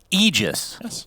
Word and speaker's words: Aegis: about AIS cerin egis it's egis technically but ice frog himself said no I want everyone to mispronounce it as Aegis so we do out